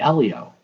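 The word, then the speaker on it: Heliot: spelled hell yet but the h is silent if the h and the t were signed would be elio elio ramos go good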